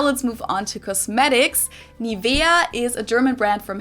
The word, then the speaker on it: NIVEA: English native speakers usually say NIVEA, NIVEA. In German, we say NIVEA, NIVEA. So the emphasis is on the E, NIVEA.